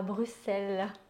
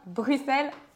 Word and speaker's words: Bruxelles: J'ai hâte d'aller à Bruxelles. On dit bien Bruxelles en Belgique et pas Bruxelles.